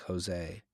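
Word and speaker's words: José: J is pronounced H or he in Spanish, like Jose.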